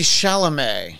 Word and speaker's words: Chalamet: other than uh Timothy chalamet that rhymes with play that's why I did